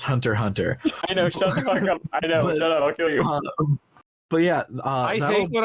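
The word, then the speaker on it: Hunter × Hunter: fiction oh my god oh it's pronounced Hunter Hunter but yeah I think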